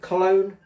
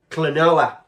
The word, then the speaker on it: Klonoa: But I think it's was it Cologne? I can't even pronounce it. But I think, well, there you go. There it is. That's it. Is it Cologne? Klonoa.